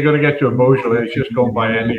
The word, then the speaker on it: Beaujolais: I'd like to kind of just clear up the pronunciation of Beaujolais. Yeah. Beaujolais.